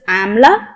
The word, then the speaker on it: amla: As it starts with am, it is pronounced as amla.